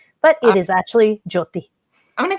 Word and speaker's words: Jyoti: do you pronounce it it's actually jyoti but a lot of people who are not uh punjabi or hindi have a hard time with it so they say jody or jyoti but it is actually